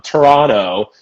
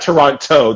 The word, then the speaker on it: Toronto: canada she's from um toronto not toronto toronto toronto and toronto and yeah she though she she schooled me ad nauseam about how to say it she's like the t is soft stupid um but she